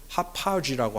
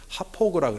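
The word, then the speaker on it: Hauppauge: 지명들이 있어요 롱아일랜드 보면 저는 그걸 합파지라고 한동안 발음을 했는데 미국 사람들이 합포구라고 해서 메사피코와 뭐 이런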